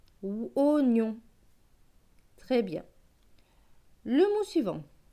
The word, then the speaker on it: oignon: Donc ce mot va se lire, alors là c'est un mot spécial, il ne va pas se lire oignon, il va se lire oignon, c'est une exception. Donc là le oie va se lire o, oignon.